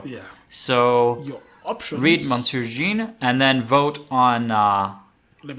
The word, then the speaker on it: Monsieur Jean: There's quite a lot of votes for Monsieur Jean. I want to stick to the French pronunciation. Monsieur Jean.